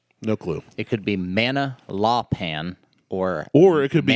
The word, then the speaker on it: Manalapan: I'm going to butcher the name of this, but it's shocker. I know. It's either Manala Lamapan or Manalapan.